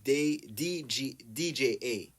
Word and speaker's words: Jah: So in Creole, when you pronounce Jah, it's DJA.